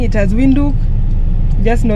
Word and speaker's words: Windhoek: And Windhoek, if you've been pronouncing it as Windhoek, just know it's the capital city of Namibia.